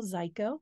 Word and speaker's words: Zyko: But my name's Zyko. It rhymes with Geico.